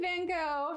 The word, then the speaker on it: Van Gogh: The name Van Gogh or Van Gogh has 3 proper pronunciations in American English according to most standard dictionaries. Van Gogh, the most common, Van Gogh, and Van Gogh.